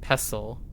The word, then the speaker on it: pestle: like mortar mortar and pestle? I say pestl. So mortar and pestl like a pastel gan. You say with a t. Oh, you say with a silent t. So pestle.